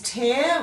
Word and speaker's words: tear: pair of glasses etc this one is tear which means tear a piece of paper if you pronounce it with the long e sound it would be tear when you have water coming from your eyes but in this set of words we're using the air sound where this means when